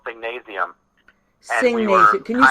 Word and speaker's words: Singnasium: I started a nonprofit music school called Singnasium. Singnasium. Can you spell that? Yep, Singnasium, like gymnasium, but Singnasium.